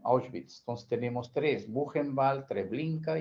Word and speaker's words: Auschwitz: En alemán, creo que la pronunciación así, ¿no? Auschwitz.